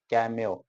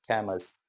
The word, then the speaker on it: Camus: जो हमारा राइटर है एल्बर्ट कैम्यो, हम इसको प्रोनाउंस कर रहे थे Albert कैमस, बट the real pronunciation is Albert कैम्यो।